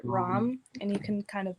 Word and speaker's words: Ram: is power or will the mantra sound would be a ram like you would pronounce it rom and you can kind